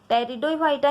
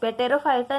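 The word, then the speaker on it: Pteridophyta: टेरिडोफाइटा यहाँ पे P silent है, पेटेरोफाइटा नहीं है, यहाँ पे टेरिडोफाइटा।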